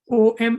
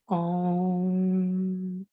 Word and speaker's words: Om: Om is not it. The pronunciation for that is Om. In fact, the is like you can take your tongue up and the sound reverberates at the neck part.